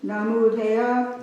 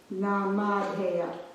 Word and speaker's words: Namadheya: Namudeya. I'm not sure if it's a U or an A. It's A. It's an A. Yeah, there's a spot of ink missing here, so Namadheya. Namadeha. So the first syllable, sorry, Namadheya.